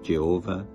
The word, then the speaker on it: Jehovah: with 4 consonants, YHWH, pronounced by some Yahweh, by other Jehovah.